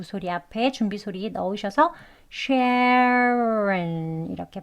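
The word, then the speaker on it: Sharon: 나오게 다음은 샤론 있니다 샤론은 하고 시작하죠 샤 sharen 예 여기 R 시작했으니까 SH 소리 앞에 준비 소리 넣으셔서 shen 이렇게 발음하시면 조금 쉬워요 sharen 다음은 미션입니다 예 여기도 미 오바마 좀 들어보신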